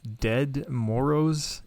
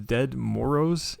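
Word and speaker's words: Ded Moroz: Speaking of weird traditions, have you guys heard of Dead Moros in Russia? What? Dead, so it's spelled D-E-D, and then that's one word, and then Moroz, M-O-R-O-Z.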